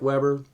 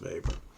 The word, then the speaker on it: Weber: Okay, so it's pronounced, it looks like Weber, it's pronounced Weber.